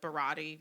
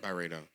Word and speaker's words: Byredo: what I do with the Barati one, or however you pronounce it. Byredo, Byredo.